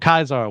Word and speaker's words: Caesar: He can't imagine a world where he doesn't get revenge against Caesar or Caesar, which is the actual correct Latin pronunciation, but I'm going to flip flop between the two.